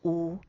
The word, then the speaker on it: 有: 台语的有发音乍听起来却像是汉语的无，念作乌。最近似汉语的音是乌鸦的乌，但要把这个字搭配鼻音念成短音。